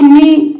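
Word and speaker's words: knee: गुडी को एठी देखंतु नी के एन ई ई नी माने कोन आंठू नी तो एठी देखो के एन एठी हम नी को के को साइलेंट रखले नी को पड़े एमिति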